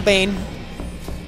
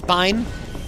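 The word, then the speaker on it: Biehn: the voice actor um Michael Bane or Bine I don't know they're telling me his pronunciation was different I've always been saying it Michael Bane you are a but apparently it's Bine start in The Terminator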